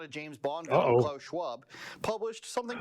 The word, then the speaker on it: Schwab: Klaus Schwab, 2 syllables, fuck off. Klaus Schwab, it's not.